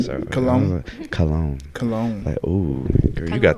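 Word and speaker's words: kalon: of the day is cologne not like cologne that you spray but cologne k-a-l-o-n beauty that is more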